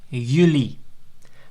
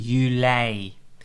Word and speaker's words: juli: confusion about that so people sometimes emphasize that they said uni by pronouncing it as you know and Julie by saying you lay because the Epsilon at